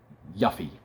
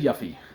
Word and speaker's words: Yuffie: mispronunciation mispronounced things yuffie if you wanted me to pronounce it yuffie you should have spelled it with one F y-u-f-i-e says yuffie double f is yuff I've been saying yuffie for 25 years get over it um